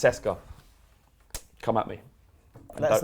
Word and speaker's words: CSKA: If I'm wrong, I'm pretty sure it's not pronounced AEK. It's pronounced Ike Athens in the same way that CSKA is pronounced Seska.